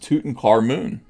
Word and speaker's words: Tutankhamun: Yeah, it's pronounced Tutankhamun.